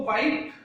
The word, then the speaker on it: white: इसी तरीके से यदि आप WHATE का करोगे तो व्हाइट, व्हाइट नहीं, व्हाइट। इस तरीके से आप इनका उच्चारण करोगे। तो हु हो गया, whom हो गया, whose हो गया, what हो गया, when हो गया, where हो गया, why हो गया और क्या हो गया? व्हाइट। इधर देख लीजिए आप, WHITE, व्हाइट। तो आप व्हाइट, इस तरीके से आप इसका उच्चारण करोगे।